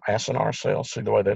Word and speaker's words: acinar: So that's why they're called acinar cells, A-C-I-N-A-R, I believe is the way it's spelled.